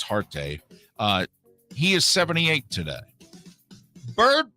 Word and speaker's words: Huarte: John Hart. I think it's how you pronounce it, even though it's spelled Huarte, one of the Notre Dame quarterbacks who won the Heisman. Maybe it's Harte.